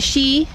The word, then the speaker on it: Sidhe: Amidst the mushroom meadow where the Sidhe (pronounced Shee) thank you!